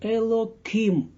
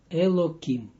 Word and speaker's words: Elokim: And I pronounce it like Elokim, and not the last sounds like him, but Kim, Elokim.